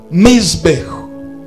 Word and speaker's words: mizbeh: Madhabahu ni neno linalotokana na lugha ya Kiebrania, linatamkwa mizbeh. Mizbeh spelling zake ni M-I-Z-B-E-H.